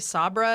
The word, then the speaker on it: Sabra: It's actually Sabra and it's Hebrew.